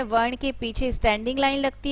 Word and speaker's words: कृपा: इसके बहुत सारे शब्द होते हैं, जैसे कृष्ण है, कृपा है, दृश्य है, और इसका जो उच्चारण होता है वो री होता है, री, कृष्ण।